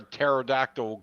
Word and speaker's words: pterodactyl: joke of the week why can't you hear a pterodactyl go to the bathroom because the p is silent got it got it